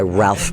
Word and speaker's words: Ralph: which by the way he goes by Ralph Fines now. His name was Rafe for the longest time and he said he got so tired of people not pronouncing it correctly he wanted to go.